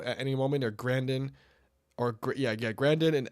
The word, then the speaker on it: Grandin: Or Grandin, Grandin and Elsinore.